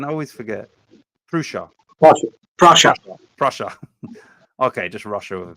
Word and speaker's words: Prussia: forget prusia PR Prussia Prussia okay just Russia with a ping Prussia just Russia with a p yeah that's all it is Russia Inky nice job